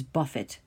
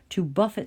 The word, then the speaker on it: buffet: the word buffet is a noun but this pronunciation is Buffett - Buffett someone is to punch or to hit think